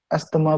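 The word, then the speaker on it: asthma: আমরা এজমা নামক নতুন একটা ভেরিয়েবল তৈরি করবো। যেটাকে এসতেমা বলে উচ্চারণ।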